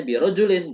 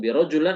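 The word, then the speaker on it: بِرَجُلٍ: huruf jar jar sehingga teman-teman membacanya birjulin bukan birjulan atau Birul tetapi birjulin nah kata rajul di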